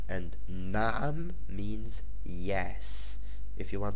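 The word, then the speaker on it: نعم: It is pronounced Naam, and Naam means yes.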